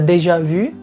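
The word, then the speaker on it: déjà vu: lain sebagainya Ya tapi kalau misalnya dalam bahasa Prancis itu udah jelas cara bacanya Dejavu Tapi kalau dalam bahasa Indonesia kita bisa temuin beberapa variasi misalnya seperti de javu juga kita paling serunya macam-macam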